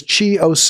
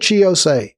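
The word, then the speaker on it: Chi Ossé: His name is Chi Ose. I believe it's pronounced Chi, C-H-I Ose, O-S-S-E.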